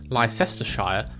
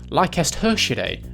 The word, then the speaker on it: Leicestershire: Moving back to look at some place names, this is in fact not pronounced Leicestershire, but actually Leicestershire, again Latin.